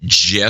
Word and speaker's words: GIF: think was for CompuServe he calls it Jeff I understand he's the one who gets the designate how it's pronounced I mean it's just the way it is anyway so I